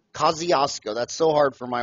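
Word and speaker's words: Kosciuszko: In Australia, I cannot pronounce that name. It's a Polish name. Yeah. Kaziosco. Kaziosco.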